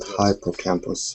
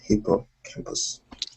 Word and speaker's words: hippocampus: guys heard uh yes it's not hypoc campus it's hippocampus yes hippo campus so did you hear